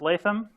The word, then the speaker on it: Latham: That's pronounced Latham. For some reason, no teacher I ever had got that right.